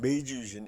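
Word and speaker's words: 明治維新: 그러니까 명치유신 이거는 이제 일본에서 이제 메이지유신 우리 얘기를 하죠. 그래서 이게 일본 역사에서는 굉장히 중요한 사건이었어요. 1868년입니다. 1968년이에요. 1868년에 이제 명치유신, 메이지유신, 일본 발음은 이제 메이지라고 하는데 메이지 천황 때 이게 있었습니다.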